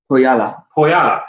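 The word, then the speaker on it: Põhjala: How do you pronounce Pohala again? Poyala. Poyala. You put a little bit of stress on the middle A.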